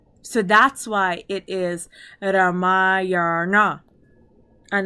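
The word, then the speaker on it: Rāmāyaṇa: So there's a reason why it is Ramayana and not Ramayana.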